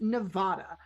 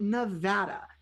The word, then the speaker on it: Nevada: Nevada is a Spanish word. So, one would think it should be pronounced Nevada, but they call it Nevada.